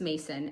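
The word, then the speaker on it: Macon: So the oldest is Mason and it's spelled M-A-C-O-N.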